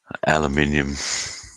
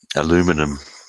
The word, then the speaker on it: aluminium: Aluminium, aluminum.